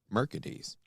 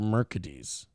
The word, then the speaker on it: Mercedes: her mother named her mercades because she didn't want to name her exactly after the car but she wanted to spell it the same way so she named her Mercedes but pronounced mercades but pronounced it mercades